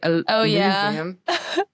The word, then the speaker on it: aluminum: You say aluminum.